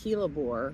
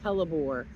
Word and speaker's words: Hellebore: be looking at the hore or hore I've heard it pronounced both ways I don't really know what the correct way is I think Google says hore so that's what I usually say but this particular plant